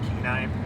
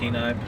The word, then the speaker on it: Kenai: am I saying it right yeah all right keenai Peninsula keenai Peninsula and this is an undisclosed Lake yeah